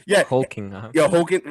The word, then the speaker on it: Hoechlin: Hoach. Tyler Hoach, right? Tyler Hoechlin. Yeah. Hoechlin.